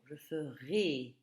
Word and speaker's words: ferai: Je ferai, prononcé et, comme dans élève.